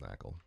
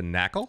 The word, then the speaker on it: NACL: The knackle? No, I'm just trying to get the pronunciation. NACL is pronounced knackle.